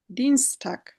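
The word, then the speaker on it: Dienstag: তো এখানেও আমার এরকম যদি থাকে তখন আমরা ই পড়বো, ই। এর জন্য ডি, ডিনস্টাগ।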